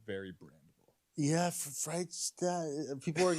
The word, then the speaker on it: Freishtat: It's Freishtat.